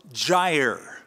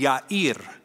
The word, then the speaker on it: Jair: After him, so after those 23 years of adjudication, after him arose Jair. That's how we usually pronounce it. That is a mispronunciation. The Hebrew pronunciation would be Yair.